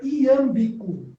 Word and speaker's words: iâmbico: Não, porque eu estou longe das coisas, mas é iâmbico, como se fala?